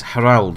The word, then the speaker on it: Harald: Well, it's Harald, really. That's where I think you're supposed to pronounce it, considering it's an Old Norse name, Harald. But I'm probably just going to end up calling him Harold, honestly.